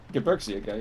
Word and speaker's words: Gebirgsjäger: Gebergsjager. Am I saying it right? Gebergsjager, yeah. Gebergsjager.